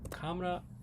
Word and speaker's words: Kamera: Woher ist meine Kamera? I don't know if that's actually, is that how you say camera in German? Camera in German. Kamera auf Deutsch.